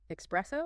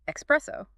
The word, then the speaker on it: espresso: words like Express but the correct way is espresso with a soft S no X so it's I'd love